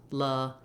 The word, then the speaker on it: lasagna: with the actual sounds, lasagna, you can see how only one of the A's says the true ah vowel.